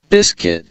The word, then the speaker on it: biscuit: তাহলে এগুলো একটু শুনে যান কোনগুলো সাইলেন্ট। parliament, biscuit, বিস্কিট, তাহলে BISBCUT, বিস্কিট, কিন্তু আমাদেরকে বিস্কুইট আইসও লিখে যেতে হবে, ঠিক আছে?